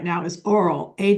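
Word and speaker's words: AWL: program right now is oral a w l it's pronounced like oral it's a great little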